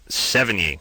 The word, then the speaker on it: Sevigny: Sevigny. Sevigny.